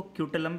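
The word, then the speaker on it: scutellum: स्क्यूटलम, स्क्यूटलम को क्यूटलम भी कहते हैं, एस साइलेंट होता है जनरली, ठीक है, स्क्यूटलम या क्यूटलम, ठीक है।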